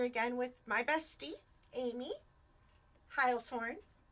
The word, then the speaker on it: Heilshorn: Krista, if you hear this, it's Heilshorn. It's not Heilshorn.